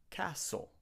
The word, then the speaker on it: castle: Lots of students say castle, but the t is also silent in this word. We have to say castle.